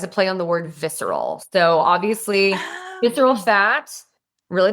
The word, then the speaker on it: Vicera: Tell me about Viscera. I'm saying it right. Viscera. Yeah, it's Viscera.